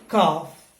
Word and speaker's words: calf: Okay, and the next one, H-A-L-F is half, calf, but in the last one, S-E-L-F, it is pronounced as self.